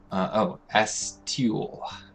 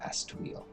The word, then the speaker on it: Astiel: Astiel. Astiel. Not Astweel.